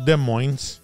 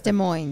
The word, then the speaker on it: Des Moines: We finish up with Bronco in Des Moines. Hey, the S is silent. No shit. Yeah. No, it's Des Moines. Yeah, it's Des Moines.